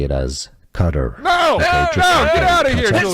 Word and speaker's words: Qatar: Cutter. No, it's is the anglicized pronunciation that most news organizations say.